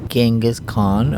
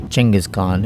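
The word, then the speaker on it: Genghis Khan: going to talk to genas Khan or Changas Khan if you want to say his name properly in eastern way we'll do that next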